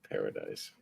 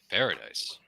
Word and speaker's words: Paradis: Paradise. Paradise. I think that Paradise. would be pronounced Paradis.